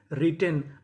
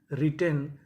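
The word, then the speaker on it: written: डब्ल्यू आर I double T ई एन रिटेन। अब देखिए यहां पे टी हमारा दो बार है। पढ़ेंगे कितनी बार? एक बार। तो मीनिंग क्या बनी? रिटेन।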